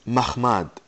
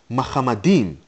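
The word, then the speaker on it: מחמדים: refer to Muhammad madim now people tend to say that the word here is mahmad this is incorrect the word is madim as it stands in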